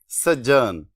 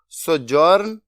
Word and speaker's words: sojourn: तो इस तरह का वर्ड 32 है सजर्न। अब इसको सोजर्न या सजर्न पढ़ सकते हैं, लेकिन SOJOURN इसको बहुत सारी और पॉसिबिलिटीज हो सकती हैं और तरीके से बोलने की, उस तरफ आपने नहीं जाना।